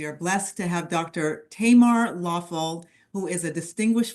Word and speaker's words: Tamar: My name's pronounced Tamar with a short A.